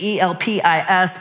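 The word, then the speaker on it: ἐλπίς: the Greeks pronounced hope, it's transliterated E-L-P-I-S, but it's pronounced elpis, which I think that's cool that peace is kind of in the Greek idea of hope.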